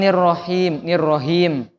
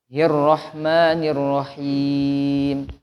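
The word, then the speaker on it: الرحمن الرحيم: Jadi tidak ada percampuran antara ha dengan kho Bu ya. Jadi ini sering ketuker Pak. Antara ha, kho sama ha. Bukan nirrohim. Bukan. Bukan juga nirrohim. Bukan. Tapi hirrahmanirrahim. Sudah dari bapak-bapak.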